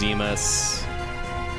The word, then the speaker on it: Zemus: The final boss is Cloud of Darkness, but it's not Zeno, it's Zemus.